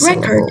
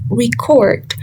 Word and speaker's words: record: another example the stress the second record is a noun. So the stress falls on the re which is the first syllable and as a verb record the stress falls on the second syllable court because it is a verb.